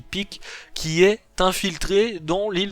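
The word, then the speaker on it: Pieck: alors je sais pas, peut-être que vous prononcez Piek, mais moi je dis Pic, qui est infiltré dans l'île du paradis.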